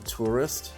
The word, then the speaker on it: Touryst: um it's cute so check out the tourist it's spelled t-o-u-r-y-s-t um i like i